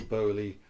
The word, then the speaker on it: Bowley: Bowley rhymes with Foley.